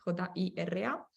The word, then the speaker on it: Jira: como Jira, de Atlassian, se escribe con J para los que no conocen, Jira.